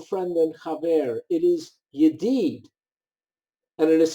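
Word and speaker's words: ידיד: It is yedid. And it is spelled Yud Dalid, Yud Dalid.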